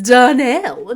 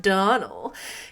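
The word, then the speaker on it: Donnell: as Miss Rachel said that's not how it's pronounced it's Donell not Donal could you hear the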